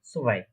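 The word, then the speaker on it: zwei: নিচের ঠোঁটটা একটু নিচের দিকে ব্যাকা করবেন, তারপর প্রোনাউন্সিয়েশনটা করবেন সোভাই, সোভাই।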